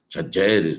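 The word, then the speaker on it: Talleres: Lá estava na Argentina, lá eles estavam, eu estava vendo a pronúncia certa, Tajeres, né?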